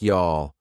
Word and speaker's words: y'all: Notice you all sounds like y'all.